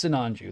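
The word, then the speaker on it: Sinanju: pronounces it differently like we all know it's sananju that's how they pronounce it in the anime i can't remember in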